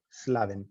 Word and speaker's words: Slaven: Entonces, en este caso es como laven los platos, pero con una S antes, slaven, listo, no hay problema.